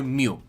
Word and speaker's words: mu: Mew, którego imię pochodzi od greckiej litery Mew, którą czyta się Mew.